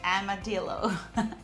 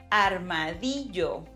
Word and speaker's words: armadillo: I know, in English you say something like armadillo. So these super cute animals, their name en español significa, it means something like little armored ones. Focus on that Spanish pronunciation. Armadillo.